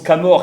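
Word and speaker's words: Camors: Et puis il y aura, en breton, on le prononce Camor, et puis dans les anciennes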